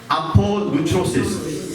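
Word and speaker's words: ἀπολύτρωσις: 한번 여러분 발음 한번 해보시겠어요? apolutrosis.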